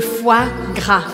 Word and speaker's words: foie gras: Primeira coisa que é engraçada é porque foie se escreve O, I, E. E eu vou pronunciar exatamente as outras duas vogais. Então, O, I tem um som de uá, uá. E o E no final eu não pronuncio. Foie, foie, foie. E aí, gras, gras. Eu não vou falar esse S aqui no final.